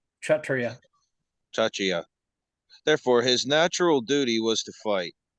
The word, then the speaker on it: Kshatriya: Kshatriya. Kshatriya. Kshat. Therefore, pronounced Kshat, S-C-H, like Shat. Kshatriya.